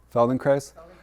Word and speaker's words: Feldenkrais: Feld in Christ rhymes with nice.